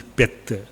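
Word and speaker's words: เพชร: Vajra, but pronunciation is Pet.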